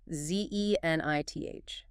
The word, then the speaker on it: zenith: last one is zenena Z E N I T H Zen. Two syllables stress on the first zenith.